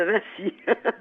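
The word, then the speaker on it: Vinci: françaises avec l'exposition de On peut dire encore Léonard de Vinc ou il faut prononcer autrement ? Non, il faut dire Léonard de Vincy.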